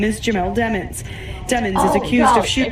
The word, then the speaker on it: Demons: Dude's last name is spelled Demons, D-E-M-O-N-S. So there was a motion to require everyone to pronounce it as Demons because demons is prejudicial.